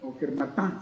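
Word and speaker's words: Kermartin: San Ivo de Kermartín, que era Kermartán se pronunciaría, que es el santo de los abogados, ¿no?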